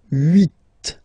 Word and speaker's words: huit: Then here, final T is pronounced. So huit, huit.